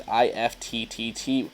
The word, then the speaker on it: IFTTT: and you can use IFTTT, pronounced IFT, which essentially is if-then statements for all those coders out there.